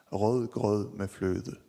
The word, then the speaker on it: rødgrød med fløde: The name is rødgrød med fløde.